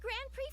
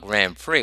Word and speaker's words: Grand Prix: I always asked myself, why the X is silent? I mean, why can't they just call it Grand Prix? Like how you pronounce Trix cereal.